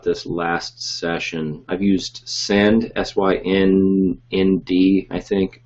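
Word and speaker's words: Synnd: I've used Send, S-Y-N-N-D, I think. It's spelled kind of funkily. It's like syndication. It's like the first part of that word.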